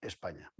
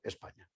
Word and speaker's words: Hispania: a llamarlo españa porque hispania se pronuncia españa hispania en latín se pronuncia españa hay una polémica perfectamente